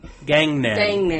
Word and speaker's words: Gangnam: Gangnam. Gang like Gang. street gang? Yeah, Gangnam. Right. Like Vietnam.